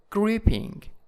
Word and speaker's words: gripping: And next one is gripping, gripping in the first syllable, and scary, scary.